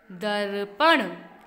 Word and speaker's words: दर्पण: यह मात्रा होती है पहले उस मात्रा का उच्चारण करते हैं उसके बाद उसके वर्ण को बोलते हैं र प ण दर्पण क्या पढ़ेंगे इसको दर्पण